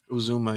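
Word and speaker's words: Uzomah: CJ Uzuma, Uzuma.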